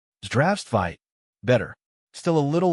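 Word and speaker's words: Здравствуйте: It's not Zdravstvite, it's Zdravstvite, with the stress on the first syllable. Zdravstvite.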